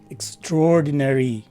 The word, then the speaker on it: extraordinary: by some english speakers the letter a takes a short regular e sound but with a minor stress and lastly the letter y takes a long e sound so this word is pronounced as extraordinary again extraordinary our word